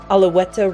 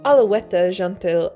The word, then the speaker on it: Alouette: were being guillotined executed alaweta rhymes with mary antoinette this song could easily